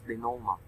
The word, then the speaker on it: denouement: It's a French term pronounced as denouement, or it means the ending.